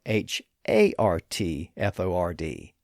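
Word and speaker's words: Hertford: The English town name is spelled with an E because it was once pronounced as Herford, but it had come to be pronounced as Hartford due to this alternate pronunciation.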